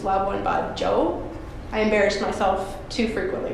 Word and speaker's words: Labuan Bajo: it entirely wrong and it's a hard and J so it's loved one by Joe I embarrassed myself too